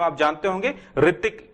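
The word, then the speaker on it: Hrithik: रतिक की spelling H से start होती है जो कि साइलेंट है।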